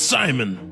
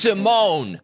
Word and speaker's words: Simon: I'm Boombi, and that's Simon. It's pronounced Simone.